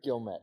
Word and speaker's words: Gilmet: how do you say your last name? Gilmet. Gilmet. Yes, okay.